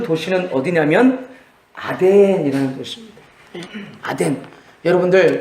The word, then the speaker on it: 아덴: 그 아테네를 중국 사람들 발음 그리고 또 한국 사람들 한자 발음 옮겨서 아덴이라고 성경은 기록했습니다.